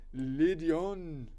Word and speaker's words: Lydian: Lydian. You say it like a barbarian. This is Greek. Oh, ancient Greek, it's Lydion.